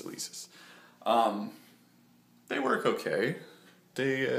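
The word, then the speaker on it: Alesis: kidding I know how to say it it's elisis um they work okay they uh they do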